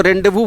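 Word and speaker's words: rendezvous: जगह तय की गई उसको रेंडेवू बोलते हैं यह जेड और यह एस दोनों साइलेंट होता रेंडु अ है और जहां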